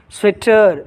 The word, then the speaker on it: sweater: Sweater, sweater.